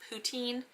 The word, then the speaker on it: poutine: classic poutine, which is, if you don't say it like with the French little thing on it, it's poutine.